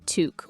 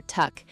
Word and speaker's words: toque: Our third Canadian word is toque. Touque. T O U E. So, Chloe, is this like a special type of Canadian hat? That's exactly right, Liam. A toque, pronounced toque or tuck, is the Canadian word for a knitted winter